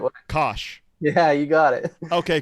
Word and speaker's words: Coish: Yeah, everyone always pronounces it Coish, but 5 years and you still remember the right way. Coish.